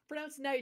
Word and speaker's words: knight: No, the K is silent. I'm so sorry. Oh, okay. Oh. Rambles is just foreigner bashing. I'm in tears. That was magical. Well, they used to pronounce the K like hundreds of years ago, but not anymore.